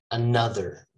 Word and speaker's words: another: gonna say this again this is not another it's another neutral another another let's let's go slow-mo uh another okay i start with a schwa i finish with a